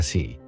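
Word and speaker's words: 四: number in Japanese culture in Japanese the number four is pronounced si which also means death is this number a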